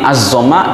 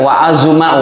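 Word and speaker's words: عظّم: wa azama Hum ini azzama Z zaainya itu zo dibaca pakai tasdid itu jangan dibaca waazuma waima Enggak bisa itu dibacanya harus pakai tasdid dari mana kita ketahui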